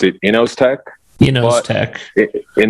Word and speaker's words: Inozetek: company yeah so i pronounce it and we pronounce it innos tech you know it knows attack is it's fine as well so i i